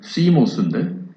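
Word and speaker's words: θυμός: 하나는 오르게라는 단어이고 하나는 디모스라는 단어예요. 원래 발음은 시모스인데 발음이 중요한 건 아니고, 하나님께서 우리 인간을 향해서 진노를 하실 때에 이 두 가지의 단어를 사용해서 성경은 기록을 합니다.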